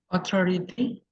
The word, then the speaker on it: authority: to say this word authority authority guided Authority the authority there you go the stress is in the second syllable Authority there you go